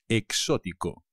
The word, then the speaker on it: exótico: cansado exhausto exótico coconut exótico cuidado con el acento exótico me gusta mucho la